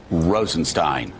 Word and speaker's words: Rosenstein: up at rod Rosenstein told people yesterday in the Senate that you pronounce it Rosenstein so thank you Willy